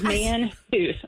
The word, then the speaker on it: Mantooth: and it's spelled just like it sounds, Mantooth.